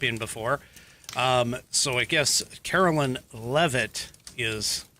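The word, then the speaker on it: Karoline Leavitt: So I guess Carolyn Leavitt is how it's pronounced.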